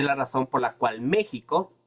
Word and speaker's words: México: razón por la cual México se escribe con con x pero se pronuncia como la J porque antiguamente la x